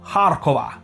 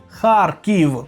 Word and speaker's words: Харків: правильні назви наших міст більше ніякого вам Харков тільки Харків і це виправлення стосується